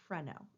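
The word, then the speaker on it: phreno: the diaphrag is freno remember when we talked in unit two about the pH letters going together pH together sounds like an F sound in the English language and so the is pronounced freno it refers to that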